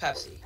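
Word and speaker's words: Pepse: That is a cat, and it's spelled P-E-P-S-E. But it's pronounced Pepsi, which...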